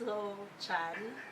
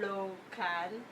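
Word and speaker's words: Lochan: first the eldest is low Chan or low cal but I pronounced the same a slow hand it sounds more familiar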